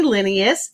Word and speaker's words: Lenius: I am your host and I'm so thrilled to meet up with Amy Lineius. I did pronounce that correctly.